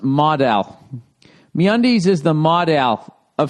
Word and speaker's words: modal: Uh note Modell is p pronounced modal.